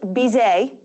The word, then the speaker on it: Bizet: Yeah, it's actually Bizet is, if we're pronouncing correctly, because it's French, right? So you don't have that T at the end.